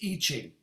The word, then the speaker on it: I Ching: let me the way the real way to pronounce it is itching so how many people have used eat ching marsha have you used